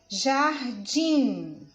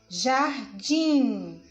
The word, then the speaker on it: jardim: e já a tim jardim jardim perceberam que a sílaba tônica ela é a última então nossa classificamos como